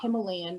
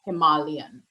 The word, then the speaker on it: Himalayan: That's actually how you say it. It's not Himalayan, it's Himalayan.